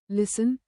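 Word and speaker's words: listen: उदाहरण psychology psychology pseudo shadow साइलेट टी मॉनटी जब एफ या एस के बाद टी आई या टीसी एच का संयोजन हो तो टी साइलेट होता है। उदाहरण विसल विसल castle castle लिसन लिसन catch catch साइलेट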